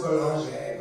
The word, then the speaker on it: Boulanger: I don't know, it's French. It's pronounced Boulanger, but like...